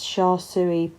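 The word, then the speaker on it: char siu: frozen meal one of the is thinking it's sha tsui pork that's how you pronounce it and it's all free are you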